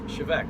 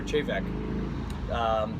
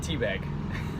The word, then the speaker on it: Té Bheag: Now I know it doesn't look like it from the title on the bottle there, but it is in fact pronounced Chivec or Chevec, not teabag, as a lot of people seem to think it's called.